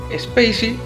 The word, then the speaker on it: Spay-C: de palabras ya que spacey se escribe space con la letra c lo cual suena muy parecido a spacey como algo especial